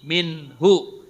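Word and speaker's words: مِنْهُ: Jadi kalau hu ini kalau sebelumnya huruf hidup dibaca panjang. Kalau sebelumnya huruf mati dibacanya pendek. Contoh minhu. Nah, nunnya kan mati. Minhu itu pendek. Tapi kalau lahu panjang.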